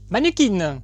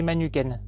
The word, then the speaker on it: Manukeen: de quel artiste s'agitil il s'agit de manukin à ne surtout pas prononcer manuken parce que ça veut dire quelque chose mais pas du tout la même chose manukin et son 4e